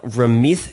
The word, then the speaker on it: Ramit: you have ramith seti why is the t pronounced like a th and the th pronounced like a t i have okay i'll tell you two things about my name first of all in punjabi the way it's written it's th so ramit and but the actual